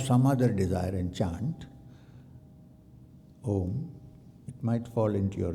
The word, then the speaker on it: Om: So, the chanting of chanting of Om with due stress on the last syllable Ma is a great technique